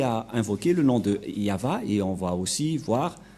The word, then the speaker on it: Yahvah: c'est V et et la prononciation de ceci c'est yava voilà euh la prononciation